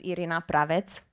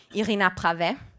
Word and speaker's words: Irina Pravet: And back then, my name was Irina Pravet. So that's how we pronounce it in Romanian.